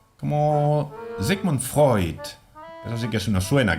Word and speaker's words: Freud: Cuando tengamos el diptongo EU, lo pronunciaremos OI. Neun. Como Sigmund Freud.